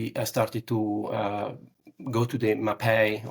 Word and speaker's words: Mapei: to go to the MAPEI, or that's how I pronounce it. Probably in English it would be more MAPEI.